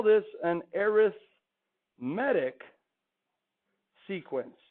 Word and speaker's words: arithmetic: we call this an arithmetic sequence. Or if you mispronounce it, arithmetic sequence. When it's an adjective, it's arithmetic. You can put a little accent there, like it's in Mexico.